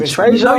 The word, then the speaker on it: Trejo: Trejo. Danny Trejo?